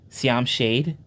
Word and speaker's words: Siam Shade: It's pronounced Cam Shade. Siam Shade.